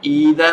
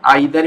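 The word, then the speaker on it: either: Next है ईदर और। इसका प्रोनाउंसिएशन आइदर भी बोलते हैं कई लोग, नो प्रॉब्लम।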